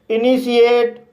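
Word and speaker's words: initiate: पढ़ा जाएगा for example इनीशिएट इस वर्ड में आई को ई पढ़ा जाएगा एन को ना पढ़ा जाएगा फिर आई को ई पढ़ा जाएगा टी को श पढ़ा जाएगा आई को ई पढ़ा जाएगा ए को ए पढ़ा जाएगा और टी को टा पढ़ा जाएगा और लास्ट में ई है यह साइलेंट रहेगा इस तरह से सेे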